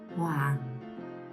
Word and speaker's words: Hoàng: Hoàng.